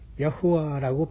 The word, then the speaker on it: 야후와: 좀 더 여호와 하나님이라는 구약의 하나님 스스로 계신 하나님의 이름을 히브리 발음으로는 야후와라고 발음할 수 있습니다.